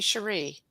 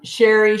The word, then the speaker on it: Cherie: so I just realized I've been pronouncing your name wrong though Shere it should be Sheree it's fine Sherry Sheree I go by